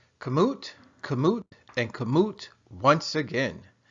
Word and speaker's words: Kamut: little bit of background information kamut and it's pronounced kamut is a trademarked name given to harassin wheat